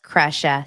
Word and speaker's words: Krisha: Okay, it's pronounced Kresha, spelled Krisha. Yeah, you guys, trying hardest.